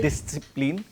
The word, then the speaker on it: Disziplin: In English, there is no separation of the S and C, right? When you say discipline, we don't separate the S and C while pronouncing it. But in German, the S and Z, we have to slightly separate while pronouncing it.